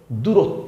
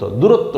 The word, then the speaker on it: দূরত্ব: কি কি এটা দূরত্ব দরশুকার দু রয়ে বফলা দূরত্ব দূরত্ব কি কোন এক স্থান থেকে আরেক স্থানের ব্যবধান